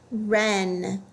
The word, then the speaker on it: wren: Wren. This word also has one vowel followed by a consonant. That's a closed syllable word. The E should say eh. It also has a silent letter, W.